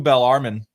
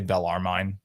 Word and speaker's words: Bellarmine: montana no interest whatsoever fgcu bell armin which i pronounced correctly now um i yeah i'm a yankee i would say bellarmine if i saw that uh on under his paper and i did for years uh but bellarmine fgcu